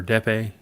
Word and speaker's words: Dieppe: The Dieppe raid, or Dieppe, how do you say that?